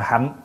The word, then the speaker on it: hạnh: Chữ hành hoặc là hạnh, nó cùng một cái chữ thôi. Ăn thua mình phát âm. Thí dụ như đại hạnh phổ hiền. Nhưng mà chúng ta có thể đọc là đại hành phổ hiền cũng được nữa.